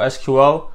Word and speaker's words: SQL: It's pronounced either SQL or SQL, whichever you prefer.